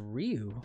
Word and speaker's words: Ryu: Jean says, actually it's pronounced Ryu.